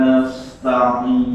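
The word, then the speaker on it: نَسْتَعِينُ: Iyyaka na'budu wa iyyaka nasta'in. Nah, masya Allah. Berikutnya Mas Wahyu. Iyyaka na'budu wa iyyaka nasta'in. Nah, bukan ta'in tapi da'in. Da'in. Sekali lagi. Iyyaka na'budu wa iyyaka nasta'in. Masya Allah, ini baru betul.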